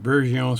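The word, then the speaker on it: Bergeon: always say it wrong I always say berson but Bon screwdrivers are swissmade made um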